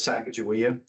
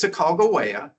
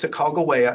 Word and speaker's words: Sacagawea: you learn her as Sacagawea? So her name is Sacagawea. That is the way the Wind River Shoshone prefer her name to be pronounced. And like you, I learned Sacagawea also, but it's Sacagawea.